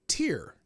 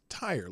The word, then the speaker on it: Tyre: he kept calling you Tyre. And I'm pretty sure you told me once it was tire, like a car tire, right?